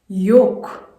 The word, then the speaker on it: yolk: word of the day that we tend to mispronounce. It's YOLK yolk len ld me want the time the